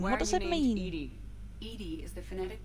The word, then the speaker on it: EDI: specific inquiry your name what does it mean Ed Ed is the phonetic pronunciation of e okay that is an acronym